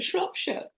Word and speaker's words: Shropshire: going to make a mess of it, from Shropshire, Perfect. Shropshire, Shropshire, England. Karen, please save me. Say it properly. You said it perfectly, Edwina. Shropshire.